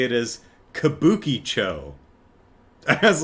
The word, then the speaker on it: Kabukicho: Kabuki Cho. Kabuki Cho. I'm like, I see where I see why you would read it that way, but no. Kabuki Cho. It's not Kabuki Cho.